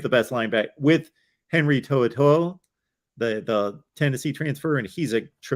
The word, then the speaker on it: To'oTo'o: Henry, I call him Tutu, but it's not pronounced that way. How do you pronounce his last name? To'oTo'o.